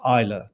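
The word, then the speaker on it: Islay: two whiskies from the island of Isa that's spelled is l y off the west coast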